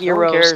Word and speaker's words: gyro: It's spelled gyro, but it's pronounced Euros.